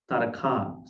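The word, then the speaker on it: Tāraka: So say Taraka long a ta, areke a a, Taraka.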